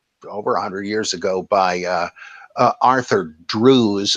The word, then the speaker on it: Drews: And the answer to that, I think, that was supplied over 100 years ago by Arthur Drews. It looks like in English pronunciation, I think it's Drefts, though.